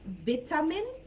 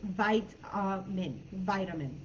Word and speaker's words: vitamin: For example, the word vitamin. In the UK, they would pronounce vitamin, I believe. In the US, it's vitamin. So the same way that I said the first time.